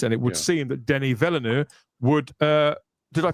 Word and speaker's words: Denis Villeneuve: And it would seem that Denis Villeneuve would. Did I pronounce that correctly, Chris? Denis Villeneuve. It's Denis Villeneuve.